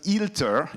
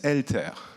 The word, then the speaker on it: eLTER: most of the people it's not filter it's alter okay and if you want we can make this pronunciation exercise together here it's alter and not healed her it's not a e